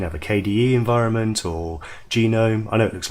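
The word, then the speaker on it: GNOME: environment you can have a KDE environment or genome I know it looks like known but the section pronounced genome many others and these are all the different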